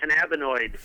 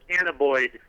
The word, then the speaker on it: cannabinoid: By the way, I just wanted to point out the ignorance of that state official when he was mispronouncing cannabinoid. He called it cannaboid.